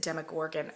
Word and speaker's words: Demogorgon: this is the demagorgon I'm pretty sure that it's pronounced demogorgan oh look there's a picture